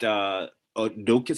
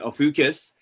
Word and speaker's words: Ophiuchus: No, I was gonna say they removed Odokis. How do you pronounce it? I call it a few because I just thought it was a few because Okay, Ophiuchus.